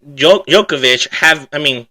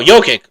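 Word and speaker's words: Jokić: But as well as Jamal Murray, him and Djokovic Or did I say his name wrong already? No, Jokic.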